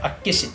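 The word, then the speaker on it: 厚岸: Il se prononce Akkeshi.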